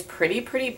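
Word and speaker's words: PRITI: So it looks like this, and it's just like this pretty purpley color.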